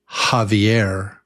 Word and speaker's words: Javier: very different sound, but this is like the sound of J or Jota in Spanish, I think. For example, Javier. Javier. In English we would spell that with an H. Javier Javier Yeah, it's no it It's only It's only breath. No teeth. No voice. Just breath. Javier.